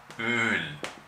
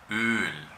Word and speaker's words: Öl: Öl. Öl. Esto es una vocal larga. Öl.